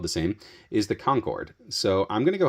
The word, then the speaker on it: Concord: area I can say people around here would call it conquered that's how people would pronounce it from Massachusetts around Boston hey where are you